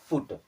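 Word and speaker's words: put: की मात्रा की तरह बस एक वर्ड है जो फॉलो नहीं करता है वो है पी यूटी उसे पढ़ते हैं पुट अब चलिए अब देख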